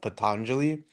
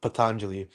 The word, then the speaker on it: Patanjali: the yoga sutras of Pataneli. Is that how it's pronounced? Patangeli. I'm thinking of Frank Pantangeli from what is it Godfather but no this is Indian the yoga sutras of Patanjali you have con it